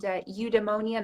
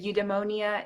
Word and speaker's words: eudaimonia: And eudaimonia. Nobody can pronounce it. Nobody can say it. It sounds like pneumonia, which is not very good for current times. But eudaimonia is an ancient Greek